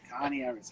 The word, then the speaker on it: Coniaris: I'm thinking like a cone, so cone starts with C, so Coniaris. If I say Coniaris, right.